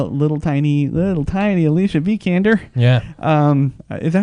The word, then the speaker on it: Vikander: I love a little tiny little tiny Alicia vikander yeah is that how I pronounced name how do you pronounce your last name is a V candor Thank You candor okay uh actress from ex